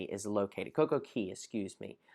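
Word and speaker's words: CocoCay: Basically right underneath of the number 3 is where Coco Cay is located. Coco Key, excuse me. I know somebody's about to correct me and tell me that I'm saying it wrong and that it's Coco Key.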